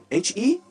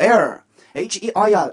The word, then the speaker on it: heir: 그러나 발음은요? 헤어가 아니에요. 헤어가 아니에요. H-E-I-R H-E-I-R입니다. Harry 아니에요? H-E-I-R. 네, 올리세요. 발음하면서 올리세요. Air H-E-I-R Air H-E-I-R Air H 묵음!